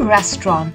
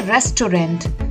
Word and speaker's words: restaurant: The correct pronunciation is a restaurant, not a restaurant, which it might seem from its spelling.